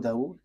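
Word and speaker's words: Dawud: So in that hadith there are um few books and in these books there is a writer uh Sah Abu Dau. So it is spelled s a h i h s a h i h.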